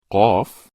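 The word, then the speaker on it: ق: Qaf. How to pronounce the letters with short vowels, fatha, kasra, and damma.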